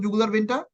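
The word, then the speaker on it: jugular: Internal জুগুলার vein, একটু উচ্চারণ করতো জুগুলার ভেইনটা। কি বললাম? বানানটা লিখি না। জু জু ইন্টারনাল জুগুলার ভেইন। অনেকে বলে জাগুলার, নো প্রবলেম, দুটোই উচ্চারণ করতে পারো।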